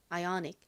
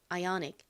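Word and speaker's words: Ioniq: 아는 여기서는이 소리로 쓰였습니다 그리고 끝에가 왔는데요는 원래 무슨 소리가 나나요 키읔 소리 크 소리가납니다 그런데 끝부분에 와서 약하게 발음되며 ionic 아이닉 ionic 이렇게 받침 들리죠 그래서이 차 이름을 아이오닉이라고 읽습니다 이것은 영어 단어가 아니라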